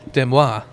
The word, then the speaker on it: Des Moines: Demois. Like the proper French pronunciation.